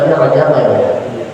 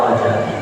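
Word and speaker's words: رجب: selawatan Ya itu kan B rajak Itu tadi saya katakan itu kurang tepat yang tepat apa secara gramatika Arabi secara Mus itu harakatnya yang lebih tepatnya bacanya rajabi sama kayak Ramadan Ramadan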